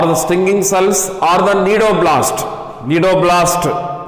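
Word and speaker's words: cnidoblast: So in this way nematocytes or the stinging cells or the nidoblast, C is silent here. Nematocytes or the stinging cells or the nidoblast, so here C is silent.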